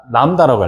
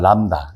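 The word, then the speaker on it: λ: 그럼 이제 이거를 뭐라고 읽냐면 람다라고 해. 람다.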